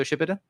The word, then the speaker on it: Shippuden: Emma says that's not how you pronounce Shippuden. It absolutely is. It's Naruto Shippuden.